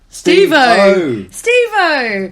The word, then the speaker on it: Steve-O: Steve-O. As in the, you say his name like he's Devo, but Steve-O from Steve Jack Oz.